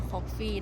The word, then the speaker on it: Koffe: ก็ แวร์ มา ได้ มัน จะ อ่าน ว่า คอฟี่ ร้าน เนี้ย อ่าน ว่า คอฟี่ นะ มุม ถ่าย รูป เยอะ